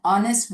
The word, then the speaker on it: honest: He is an honest boy. An honorable chief minister. An honorable minister. Honorable. It isn't honorable. How hotel. Here in these words, the letter H is silent.